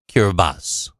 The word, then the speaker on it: Kiribati: regained its independence and changed its name to kiribati the name kiribati is the local translation of gilberts in the local language kirbati is pronounced kirbas during world war ii parts of karabadi were